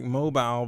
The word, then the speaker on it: Mobile: I know it's spelled like mobile, but it's like Mobile.